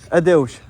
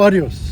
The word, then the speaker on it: Adeus: Adeus. Oh, adios.